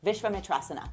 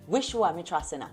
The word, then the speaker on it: Vishvamitrasana: going to introduce you to my arch nemesis visha matasa hold up I just found out is pronounced visha matasa I've been saying it wrong this whole time